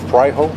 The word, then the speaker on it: Fraijo: The last name is spelled Fraijo. It's pronounced Fraijo.